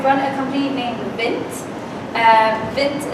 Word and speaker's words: Vint: Vint is spelled mint, but with a V to get a good understanding.